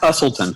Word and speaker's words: Busselton: for it what's your it's pronounced busselton busselton that's right for months yet to